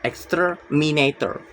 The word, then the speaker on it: exterminator: The stress is on the third to last syllables, exterminator.